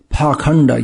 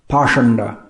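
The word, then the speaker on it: pāṣaṇḍa: whole situation the part the word parkhanda used in this verse is sometimes pronounced parshanda both of these words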